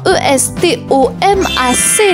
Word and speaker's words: estomac: E s t o m a c. La lettre muette. Le c à la fin, estomac. On enchaîne le 9e mot.